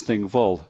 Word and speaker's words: Thingwall: be relieved to hear the thing comes from Old Norse of the same pronunciation thing which means an assembly or Parliament vole is an old norse name meaning field so thing wall is thing vol which means the assembly